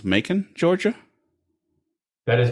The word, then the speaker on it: Macon: Is that pronounced Macon, Georgia? That is Macon, yes, and it is northeast of there.